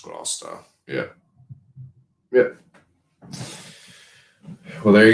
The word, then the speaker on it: Gloucester: It's pronounced Gloucester.